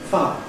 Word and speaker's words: fire: If we start with fire, now underlying it, this is fire, with I plus fire. But very commonly, in received pronunciation, it's said not as fire, but as fa, where instead of I, we get ah, fa, fa.